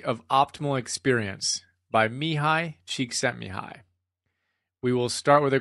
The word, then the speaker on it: Csikszentmihalyi: According to Martin Seligman, the author of Authentic Happiness, and you can see the notes on that, it's Mihaly is his first name, Csikszentmihalyi. Mihaly Csikszentmihalyi.